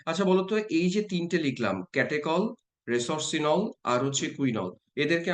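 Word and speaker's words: catechol: লিখে দিচ্ছি তোমরা দেখো স্পেলিংটা ক্যাটেকল কলের বানানটা একটু অদ্ভুত কেটেচল এরকম ভাবে বলতাম আমরা এর নাম ক্যাটেকল এবার এবার ওইচ এর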